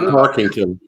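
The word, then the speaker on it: Tarkenton: No. Tarkington. Yeah. Okay, just making sure. That's how you pronounce it.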